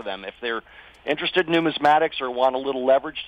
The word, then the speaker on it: numismatics: And Dana Samuelson, he is the president of American Gold Exchange, also past president of the Numismatics. How do you pronounce that, Dana?